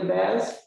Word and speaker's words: Baz: community food system plan am i pronouncing your name correctly baz yes that's it thank you so much